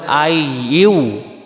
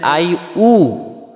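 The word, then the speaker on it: أيها: হলো ইয়া আর এখানে ইয়াটাও এখানে বলতে হবে আই ইউ আই ইউ আর যদি বলি আই উ তাহলে হামজা পেশ উবে ইয়া পেশ হয় ইউ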